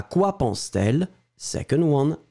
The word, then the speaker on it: pense-t-elle: this a funny thing, to make it beautiful and easier to pronounce, we will have to put this T between the verb pense and elle, because you've got two vowels. À quoi pense-t-elle?